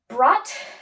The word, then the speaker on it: brought: bring becomes brought brought brought the gh is silent brought brought um so